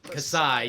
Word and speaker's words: Kassai: Kassai. You gotta have an eye. Kassai. He's got eyes. Well, I mean, he does have an eye there. It's AI. Yeah. Kassai.